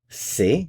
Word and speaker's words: sait: il elle ont sait, it's pronounced the same as these two, but it's spelled differently.